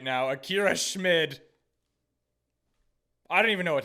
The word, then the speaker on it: Schmid: Just for fun, we're drafting our backup goalender right now, Akira Schmid. I don't even know what to say anymore. I think it might actually be pronounced Schmeid. But anyway, spin that wheel.